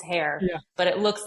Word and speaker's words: Hoerr: It's hair, but it looks like a variety of pronunciations.